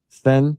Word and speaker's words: Sten: And she writes to Mark, we have been informed that you apparently gave a copy or informed Senator Sten, am I pronouncing that correctly? Mm-hmm, that's right.